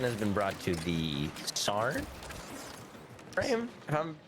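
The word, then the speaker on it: Saryn: been brought to the sarn frame i'm saying that right sorry which one is what the house is spelled like s-a-r-y-n i think oh sarin yeah baron yeah yeah yeah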